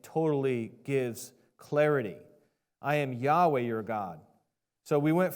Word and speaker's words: Yahweh: Scholars they say that the ancient VAV that's uh this letter right here is pronounced like a w sound so instead of saying yve they say Yahweh okay I don't have